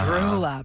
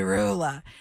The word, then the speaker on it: Roula: Please, tonight, when you announce my name for my diploma, can you please pronounce it correctly? It's not Roula. Oh, Rula, that It's breaks Roula. my heart. It's Roula. Please And? say Roula.